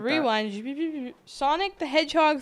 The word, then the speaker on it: Sonic: Sonic the Hedgehog 3. You stumbled on. You said Sanjik or something.